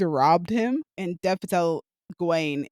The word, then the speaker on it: Gawain: him and Dev Patel Gawain is on the ground, or Gowan, I guess it depends on how you pronounce it.